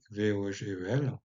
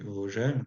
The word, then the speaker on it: Vogel: Alors, à l'alsacienne, en Alsace, francisé, on peut prononcer Vogel, il y en a pas mal dans ma région, comme nom de famille, hein, donc ça veut dire oiseau tout simplement, ou à l'allemande Vogel, mais on a en néerlandais le G se prononce R, donc on dit Vogel.